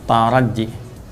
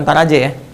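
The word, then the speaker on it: ترجي: La'allakum itu di bahasa Arab disebutnya dengan harfut taraji. Ya, taraji. Taraji. Bukan taraje ya. Taraje. Oh iya, apa taraje nih? Taraje bacanya gitu. Bukan, ya. Taraji, harfut taraji.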